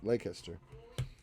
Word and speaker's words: Leicester: Because you didn't say it right. It's Leicester.